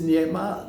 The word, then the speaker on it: nema: They write it also like one word and therefore since Polish has penultimate accent the pronunciation is nema like the Islam you said also in creation nema is the same word means the same.